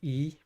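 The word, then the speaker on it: 良い: else says it, but that kanji for yoi, that means good, but normally people just say it as e, that's good. But maybe because the furigana says yoi, I'm supposed to pronounce it yoi because it's kind of old-fashioned to say it as yoi.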